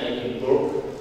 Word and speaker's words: Edinburgh: Dia postdoc di Edinburgh, tulisannya Edinburgh, ya, orang-orang Scotland bacanya Edinburgh University di Inggris, salah satu kampus yang terbaik di Inggris.